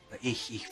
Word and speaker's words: ich: But I know that for English speakers, it's really hard to pronounce the word I, which is ich, because of the CH sound.